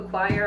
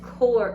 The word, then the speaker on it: coir: um coco coir coco choir i don't know how to say it it's it's core it's c-o-i-r so it's not choir it's like whatever it's